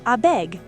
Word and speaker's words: abeg: It comes from I beg, but we shortened it to abeg. Pronunciation, abeg. 2 syllables, emphasis on both.